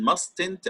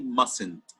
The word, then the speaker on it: mustn't: stand ACTA silent in mustn´t at this island we say mustn't mustn't okay input letter T okay but we don't pronounce it we say mustn't so up till now